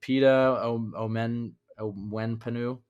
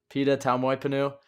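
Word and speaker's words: Pita Taumoepenu: Oh, God, how do I pronounce his name again? Pita Omenpenu. Did I get it? You nailed it. No, Tau Moipenu. Pita Tau Moipenu.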